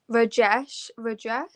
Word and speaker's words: Rajesh: Rajesh.